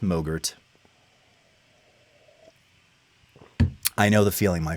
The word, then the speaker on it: MOGRT: sudden craving for yogurt because it rhymes with mo Gert I know the feeling